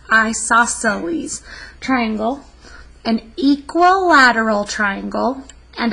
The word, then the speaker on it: isosceles: c l yes and it's pronounced i saw celes isosceles triangle an equilateral triangle